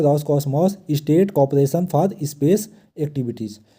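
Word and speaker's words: Roscosmos: तो आप यहां पे नाम थोड़ी उच्चारण करने में रशियन लैंग्वेज में डिफिकल्ट होता है। तो यहां पे देख लीजिए रॉस कॉस्मॉस। आप ऐसे तीन-तीन शब्द लेटर में जो है तो प्रोनाउंसिएट करिए। तो रॉस कॉस्मोस इसका फुल फॉर्म क्या है?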